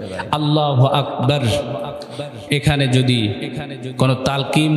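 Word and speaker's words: الله أكبر: দিলে কি হয়ে যাবে নামাজ ফাসেদ হয়ে যাবে আল্লাহু আকবারের শুরুতে আলিফ আকবারের শুরুতে আলিফ এখানে টান দিলে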